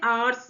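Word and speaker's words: hour: ना वह हमारा अ एच जो होता है वह यहां पे प्रोनाउंस नहीं होता है आर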